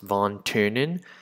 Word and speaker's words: von Thünen: And this lecture is about von Thünen, and that's pronounced von Thünen, and his theory of agricultural location.